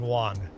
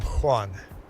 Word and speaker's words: Juan: Even Hispanic people will pronounce their name as Juan with a W sound. But anyone from Spain will pronounce their name Juan. Most other Spanish-speaking countries will pronounce their name Juan. In Brazil, I'd be Juan.